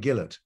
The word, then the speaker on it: Gillett: know to be honest it's actually pronounced um Charlie Gillard oh Gill well we're in Canada we we buy Gillette razors okay he would